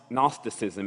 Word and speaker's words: gnosticism: through it to know I like to spell it g n o as in no gnosticism it's the ability to